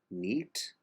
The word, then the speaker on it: nit: Quan an la nit, like you would write N-E-A-T, calmada.